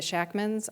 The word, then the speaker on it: Sackman: It took us forever to find the Shackmans on the passenger manifest because it was spelled Sackman, because Sackman was pronounced Shackman in Romania.